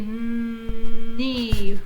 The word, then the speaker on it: knee: Okay, let's blend, and I will help you once again remember the K is silent. So it'd be knee.